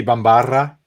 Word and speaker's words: Bambarra: from turks and caicos how do you pronounce that bambara it's actually two art so it might be bambarra yes that checks out boom actually all right